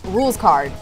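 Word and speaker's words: Rouxls Kaard: Nightfang says, "Rules card is pronounced rules card.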